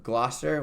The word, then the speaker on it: Gloucester: All right, so Katlyn went to Gloucester, how do you say Yes, it?